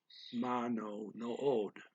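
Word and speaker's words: manood: So when I talk to you, telling you what these words means, I'm going to pronounce both O's. Mano no od.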